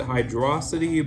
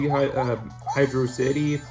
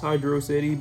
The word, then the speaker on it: Hydrocity: Personally, I pronounce it Hydrosity, but whichever way you pronounce it is, honestly, I mean, who cares, to be honest?